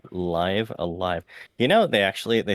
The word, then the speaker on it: Live A Live: game you know that the way that you pronounce the title has been a point of debate and speculation and solstice you can confirm it is live alive right it is indeed live alive you know they actually